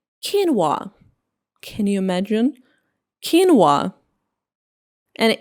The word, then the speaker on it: quinoa: It is pronounced like quinoa.